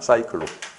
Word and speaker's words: 사이클: 적을 때는 사이클로 적고 읽을 때는 이 사가 약간 된소리 발음이 나와요. 사이클로.